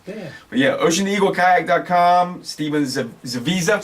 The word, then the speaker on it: Zawisa: The Visa? Like Visa card? Yes, sir. Visa. That's Yeah. it. It's a lot easier than Ziowa. Yeah, that's nice. I wasn't pronouncing the S. I was using the W.